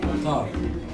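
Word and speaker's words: طار: You call it, Tar. say it again. Tar. Tar. Tar, like guitar. Like guitar, right?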